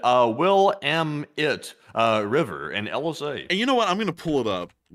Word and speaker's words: Willamette: And Trism said, Willamette River and LSA.